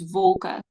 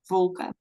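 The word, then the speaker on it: wolke: um so make a note that clouds is vulka w l k e that's clouds yes that's clouds and you pronounce it vulka V okay all right um let's see so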